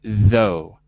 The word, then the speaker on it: though: as yet spoken good because the gh is silent so we say though okay so one head